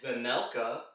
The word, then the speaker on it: Vejmelka: coyote's perspective other than vanelka where the jay is silent playing on his best